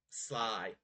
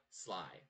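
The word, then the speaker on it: Slai: He looks at you infuriated and he's like, Sly. That's all you get out of me. Well, so Sly. It's, all right. So it's spelled like this, S-L-A-I, Sly.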